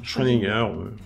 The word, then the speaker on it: Schrödinger: Ça se prononce comme ça. Hein. Schrödinger.